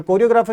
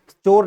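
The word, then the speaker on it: choreographer: क्या बोलते हैं कोरियोग्राफर कोरियोग्राफर की स्पेलिंग इंपोर्टेंट है सी एच ओ आर क्या है चोर नहीं कोरियोग्राफर कोरियोग्राफर सी एच ओ आर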